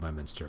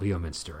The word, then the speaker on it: Leominster: So like one that came up was, I think there's a town called Leominster, and I even know that this one is called Leominster, but I forgot, and so I called it Leominster, I think, and I was pretty quickly corrected.